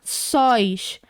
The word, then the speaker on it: sóis: Sílaba tônica no finalzinho, porque ela é uma monossílaba, que a gente não tem separação. É uma palavra só, uma sílaba só. terminado em OI, porque é um ditongo aberto, então a gente acentua.